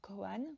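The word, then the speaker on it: kōan: Le terme gonghan ou koan, prononcé à la japonaise, est issu du vocabulaire juridique de la Chine ancienne.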